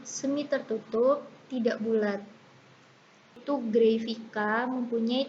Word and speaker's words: Grayvica: Itu Grafika mempunyai 3 silabel, yaitu Gray, V, dan K. Mungkin tulisannya Vica ya, tapi bacanya Vika.